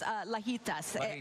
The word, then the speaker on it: Lajitas: And then the other place is Lajitas. Yes. Anything that rhymes with fajitas, I'll stay there.